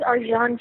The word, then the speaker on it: Arcan: His name is Arjan Chetin, and he's from Turkey, so it's a little strange name, but it's spelled Arcan.